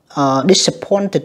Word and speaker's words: disappointed: ở phần ngữ pháp A1, A2, cái phần phát âm ED. Câu B tức là disappointed nha, âm mệt nha các bạn, tại âm cuối của nó là âm tờ.